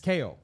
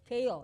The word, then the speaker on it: Keio: And make sure I'm doing the pronunciation correctly. Uh first of all, Keio Plaza Hotel, correct? I said that right? I guess yes. Keio. Keio, yes. Keio, okay. That's good.